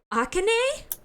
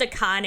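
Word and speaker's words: Akane: Aane. She looks nothing like Aane. the vagina. You had the same face for 15 years. He realized me. Actually, it's pronounced a Kane.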